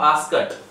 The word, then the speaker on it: asked: अब आप एक चीज देख रहे हैं कि मैंने यहाँ पे ASKED लिखा है और मैं इसका उच्चारित कर रहा हूं आस्कट।